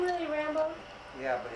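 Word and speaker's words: Rambaux: is awful or something is his name really rambo yeah but it's spelled the r-a-m-b-a-u-x why don't you meet dave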